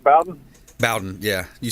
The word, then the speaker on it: Bowden: mention bobby bowden am i saying it right bowden bowden yeah you said bowdoin or something i think bobby brown at least